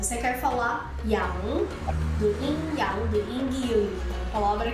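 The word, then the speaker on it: 阴阳: Esse G no final não pronuncia.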